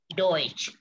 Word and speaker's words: Deutsch: Di sini Deutsch ada EU dibacanya oi. Ya, Deutsch.